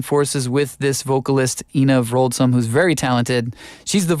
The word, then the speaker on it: Wroldsen: So Wroldsen, actually, yes, it's a Norwegian name, Wroldsen. It's spelled with a W, pronounced with a V.